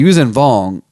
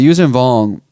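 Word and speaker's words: Yuuzhan Vong: you didn't read the usen vong and that's how I'm pronouncing it I don't know if it's really how to pronounce they were this it's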